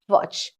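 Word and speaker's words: watch: वॉच, वॉच कहना चाहिए बट टी आपका साइलेंट है, इसलिए इसको हम कहते हैं वॉच।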